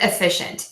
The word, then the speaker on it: efficient: word in the sentence, you can say with that schwa, efficient. And I did that actually upside down. Sorry, people. Let's see. Well, still looks bad. Efficient. So efficient or efficient. Very slight difference there at the end.